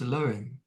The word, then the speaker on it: Elohim: And they're referred to in the very first sentence of Genesis, first book of the Torah and Holy Bible, as Elohim, nowadays pronounced Elohim.